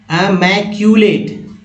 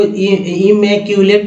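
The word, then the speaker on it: immaculate: Next word देखिए दोस्तों है इम नहीं, अमैक्यूलेट। अमैक्यूलेट है ना, लेट, तो देखिए एट है ये, और इम को इमैक्यूलेट नहीं, अमैक्यूलेट, इस तरह से पढ़ा गया है।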